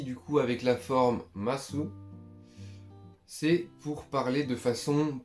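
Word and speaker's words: ます: Là ensuite, on va voir la forme masu, ou mas, du coup comme on ne prononce pas le ou à la fin, vous avez capté, mais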